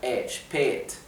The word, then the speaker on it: spät: Recuerden que la A con la diéresis, que es la A umlaut, se pronuncia con una E larga, spät.